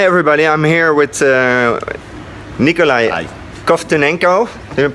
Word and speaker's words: Kovtunenko: Hi everybody, I'm here with Nikolai Kovtunenko. Did I pronounce it right?